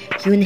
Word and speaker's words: Yoon: he asked her with his eyes open wide yoon he looked quickly at mr kim then turned